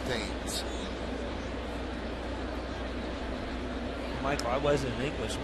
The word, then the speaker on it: Thames: Now, Eric spells his name the same way Marcus spells his name, the former Yagani, but Marcus pronounced his name Tims. Eric says his name was pronounced Dames.